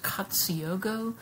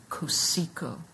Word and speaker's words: Cotsiogo: artist whose name looks like it would be pronounced katsuyogo but in fact the way he pronounced his name was kusiko so um i would like now to pause